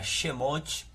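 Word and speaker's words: שמות: de Êxodo que significa nomes em hebraico se pronuncia xemont o número de le vítico que significa ele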